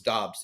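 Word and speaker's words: Doubs: Patriots like Romeo dubs every week I hear announcers pronounce his last name differently so it's dobs this week Romeo dobs rookie out of Nevada he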